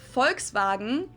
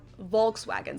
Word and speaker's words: Volkswagen: it would be pronounced Volkswagen at night Volkswagen so just imagine that it was spelled with an f and V instead folks wagon this literally